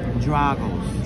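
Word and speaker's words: Drago's: um that's it so we were saying it wrong the correct pronunciation is draggles struggles we were definitely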